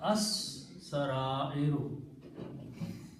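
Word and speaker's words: السرائر: the recite scene being Shamsi letter kills the sound of लाम सो इट is pronounced as अस सरा arrow अस सरा arrow means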